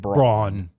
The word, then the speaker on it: Brown: Okay, so the lady has her name spelled Brown, but it's supposed to be enunciated Braun.